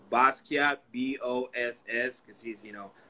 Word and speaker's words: Basquiat: That one of my favorites is the, I'm going to pronounce this wrong, but was it the Basquiat? Is that what you did? Basquiat, yeah.